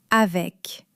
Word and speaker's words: avec: Le "C" final se prononce presque toujours. Avec.